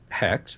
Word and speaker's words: Hecht: Gina Hecht, and I am pronouncing that correctly, as Manua.